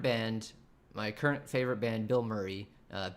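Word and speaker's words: Bilmuri: my current favorite band, Bill Murray. Uh, B I L M U R I. It's sounds like the actor, but it's not spelled like the actor in case you wanted to look them up.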